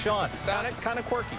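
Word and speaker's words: Chone: It's spelled C-H-O-N-E, but it's pronounced Sean.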